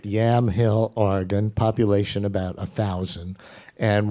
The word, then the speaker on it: Yamhill: Well, journalist Nicholas Kristof grew up in Yamhill, am I saying it right? You're saying it exactly right. Yamhill, Oregon, population about 1,000.